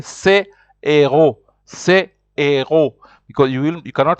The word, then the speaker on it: héros: So here you will say c'est héros, because you cannot say c'est zéro. Like I said, it will mean this zero. So here you say c'est héros.